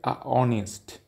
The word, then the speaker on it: honest: can see the honest h o n e s t honest start with onest why use and not